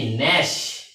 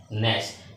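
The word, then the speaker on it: gnash: বলে নার হচ্ছে গিয়ে ন্যাশ এন এ এস এইচ এই জির উচ্চারণ এখানে হবে না এই ন্যাশ শব্দের অর্থ হচ্ছে আমরা দাঁত কিরবিড় করি না এটা হচ্ছে গিয়ে ন্যাশ এবং সর্বশেষ আমরা দেখব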